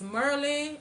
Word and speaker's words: Maryland: Yeah, the way I say Merlin, it's Merlin, DC, Virginia, not Virginia.